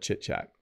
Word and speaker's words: chit chat: we often call it chit chat. Okay. It's kind of a funny, you have to say it right. Chit chat, ch, ch, not shh. Don't say it that way.